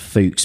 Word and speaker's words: Fuchs: of germans that said it's pronounced fuchs because it's the german word for fox excellent and the other